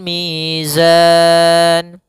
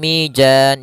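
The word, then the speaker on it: ميزان: panjangnya dua harakat waadal Mizan Nah di sini Alif Lam lagi alif lam Qariah yaitu alif lam yang ditulis dan dibaca kemudian manada madukun hati-hati jangan sampai Mijan Jangan dibaca dengan Jim jangan pula dibaca dengan dan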